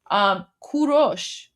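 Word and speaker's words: کوروش: earlier today or yesterday, Kurosh is Cyrus, right? So the proper pronunciation of Cyrus the Great, who's the founder of the Persian Empire, in Persian, it's Kurosh.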